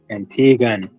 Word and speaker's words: Antiguan: Is it Antiguan? Antiguan. Okay. Well, shit. That's why I asked the question because I can't say it, so I'm saying it wrong. It is what it is. Man, we don't know where you got the W from.